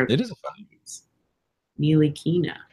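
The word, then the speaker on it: Ntilikina: There's no T. You don't say the T. It's Knee Lee Keena, so it's like knee, Bruce Lee, And key then to open a door, and then nah.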